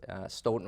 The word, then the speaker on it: Stoughton: Notwithstanding your background in Stoughton, Wisconsin? Well, we're a Norwegian community, so it's a hard O. So I know it's Stoughton, Wisconsin, if you will.